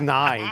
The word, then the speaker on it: Nai: It's just nigh. The end is nigh.